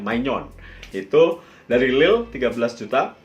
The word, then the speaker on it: Maignan: Nah, ini tulisannya Mike Maignan ya, bacanya Maignan.